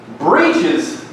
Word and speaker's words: breeches: Breeches, and I'm saying it how it's spelled. We say breeches, but it's spelled breeches. I don't know why.